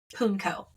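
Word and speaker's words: pwnco: word it's spelled p w n c o punco is how it's pronounced um which is an exchange of rude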